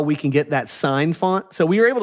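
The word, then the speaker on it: Syne: Uh, what matters is I want to show you how we can get that sign font.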